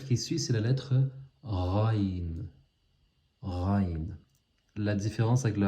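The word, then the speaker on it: غ: Et ça fait penser au R en français. Quand je dis par exemple la route, quand on dit la route, ben, c'est exactement cette lettre, c'est le Raïn. Ou si on dit le rat, ou le riz, c'est cette lettre, Raïn.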